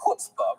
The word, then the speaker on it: chutzpah: First of all, chutzpah is actually pronounced chutzpah, but the idea that